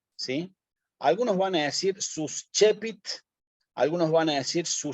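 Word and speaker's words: suscepit: la base y digo sus chepits también está bien porque la c con la e la pronuncio como una ch sus chepits sí Y ahí estoy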